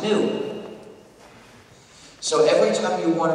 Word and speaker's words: GNU: the English language because according to the dictionary it's pronounced new so every time you